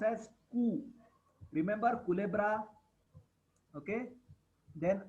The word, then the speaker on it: cu: Then Q is pronounced as Ku. I am not saying Q. I am saying Ku. C plus U is pronounced as Ku.